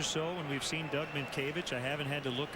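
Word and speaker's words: Mientkiewicz: then i-e again w-i-c-z at one time i just wrote m i n t k a y v i c h mint cavities phonetically that's right i just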